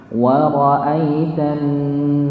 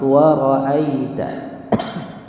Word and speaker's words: وَرَأَيْتَ: Nah, ini jangan sampai ditekan. Tidak ada nabernya atau tekanan di situ. Bukan bacanya jangan sampai wa ra'aita. Enggak boleh, nggih. Wa ra'aita. Tapi wa ra'aita. Biasa saja. Enggak perlu ada hentakan.